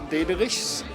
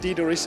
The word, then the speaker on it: Dederichs: My name is Dederichs. You can pronounce it Dederichs if you like.